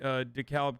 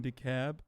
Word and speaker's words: DeKalb: Don't pronounce the L in DeKalb.